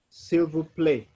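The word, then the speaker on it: s'il vous plaît: a i t p p-l-a-i-t so you say silver play silver play and that is please simple play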